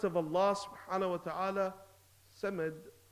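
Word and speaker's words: صمد: Samad with the Sin means feces. Means poo for the younger boys and girls. So now you're saying Allahu and you're not pronouncing the Sad.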